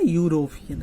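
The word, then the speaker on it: European: ना यूरोपियन है ना यू आ रहा है ना उच्चारण करने से यू रो है ना पियन है ना यूरोपियन जो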